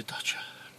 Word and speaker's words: Dacia: better so you know daisy as you know that's English way I say it but guess he must say thata sorry James May you